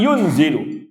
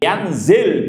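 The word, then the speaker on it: يَنْزِلُ: dewe ya yziluna ditakwilkan yunzilu maka kata imam alhbi tadi Kila yanzil bifathil ya ya sampai ditegaskan dengan difthahnya Ian kemudian dikasr zainya yanzil bukan yunzil unzil bid faqtada Barang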